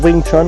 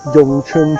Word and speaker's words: Wing Chun: You can see that I focus mainly on Wing Chun, okay, Wing Chun Kung Fu. Wing Chun, different pronunciations, Wing Chun, then you got Yong Chun Chinese, Mandarin Chinese, Yong Chun.